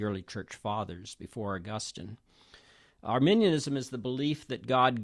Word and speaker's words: Arminianism: First of all, Arminianism is not Arminianism. It's not people from Armenia. I hear that mispronunciation all the time, and I just want to make that clear to anyone who doesn't have any idea.